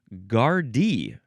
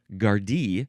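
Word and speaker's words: Gardaí: Oh, by the way, the plural is gardy. Gardi, spelled G A R D A I.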